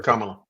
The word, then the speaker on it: Kamala: Pronounce her name? What's her Kamala.